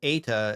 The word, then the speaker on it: eta: Play is a diphthong. So Okay. we are combining e and e to sort of like in one vowel, like a, right? A. And that Yeah. tends to be how eta is pronounced, right?